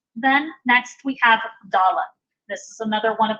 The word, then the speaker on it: Dalet: Hard, we pronounce it D, like a hard D sound. Soft pronunciation without the Dagesh Lene, it's kind of a buzzed D, a voiced TH, if you will. So it's the.